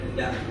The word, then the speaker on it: hendak: For example, like hendak, there's a lot of cough at the end, but we don't really basically vocalize the Qaf, yes.